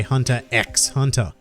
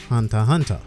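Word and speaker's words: Hunter × Hunter: I hear people say hunter x hunter the X is silent and it's not actually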